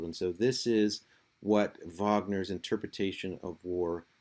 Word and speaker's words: Wagner: Uh this is his name is pronounced with a V because he is German and in German the W's are pronounced as V. So don't say Wagner, say Vagner.